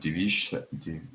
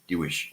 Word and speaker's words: Diviesh: Divish. I'm not sure how to pronounce your name.